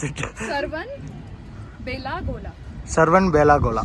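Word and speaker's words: Shravanabelagola: Okay, I'll try not to pronounce it. Sarvan Belagola. Sarvan Belagola. Shravana Belagola.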